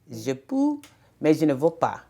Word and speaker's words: je peux, mais je ne veux pas: But I believe the proper pronunciation is je peux, mais je ne veux pas.